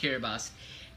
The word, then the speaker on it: Kiribati: independent uh separately as kirbas oh these have been dained also as kirbos uh as AKA you know spelled Kiribati but pronounced kiribas and talu those are